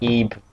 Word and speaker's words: Ib: IB is how you spell it. It's actually like Ebe, but I follow in Cry's footsteps because I like Cry. So I say Ib.